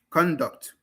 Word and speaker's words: conduct: Noun version, stress on the first syllable. Verb version, stress on the second syllable. Increase and increase. Conduct, conduct.